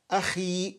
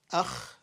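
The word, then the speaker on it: أخ: Ya akhi.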